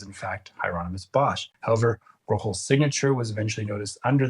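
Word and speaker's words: Bruegel: Finally, let's look at someone who has been considered similar to Bosch, Peter Brochel the Elder, trying my best Dutch pronunciation. Bosch passed away about a decade before Brochel was born, and many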